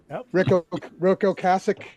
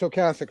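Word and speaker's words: Ocasek: Ro Cassich and it's Oassic, fellas.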